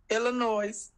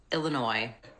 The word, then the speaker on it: Illinois: Henyard of Dalton, Illinois. This video will look at how to pronounce Chicago and Illinois. Illinois. Not Illinois.